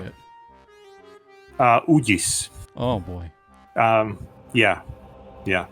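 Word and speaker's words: Uģis: Ugis. Oh, boy. Yeah. It's like the G has like a check above it, and it's like a soft G because there's 2 G's in Latvian.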